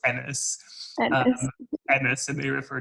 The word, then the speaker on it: Ennis: Sorry, I don't know how to pronounce his name. So it's Ennis. So in the film it's Ennis.